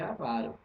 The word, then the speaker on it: avaro: C áo ou avaro palavra certa é avaro qual é a palavra